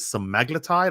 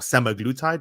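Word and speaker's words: semaglutide: public is a drug called some magletide or semi-glutathione depending on depending on what you um how you pronounce it which side of the atlantic you're in um these are weaponized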